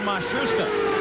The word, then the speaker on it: Matsushita: in the Pence cars they 've changed the pronunciation again and given it to us four or five different ways now it seems that they have settled on mashusta the start of the year with Matsushita but he is